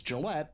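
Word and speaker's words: Jillette: Pen's last name is Gillette, pronounced like the razor manufacturer.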